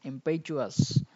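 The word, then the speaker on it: impetuous: ইম্পেচুয়াস একেবারে তাড়াহুড়ো প্রবণ বা অদূরদর্শী উচ্চারণের ক্ষেত্রে একটু সতর্ক হতে হবে।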